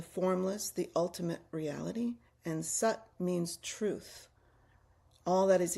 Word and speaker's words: sat: Tut means that meaning the formless, the ultimate reality and sut means truth, all that is eternal and unchanging.